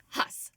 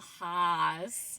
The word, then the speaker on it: Hass: Today we have Huss. Yes, nice. That was good pronunciation. Yes. I was saying Haas. Yeah. Well, I wasn't saying it that long. I was just like Haas, and she said some people say it too long.